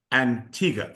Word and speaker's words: Antigua: Yeah, we have we got a little bit of a celebrity help there to uh to help in the correct pronunciation of Antigga.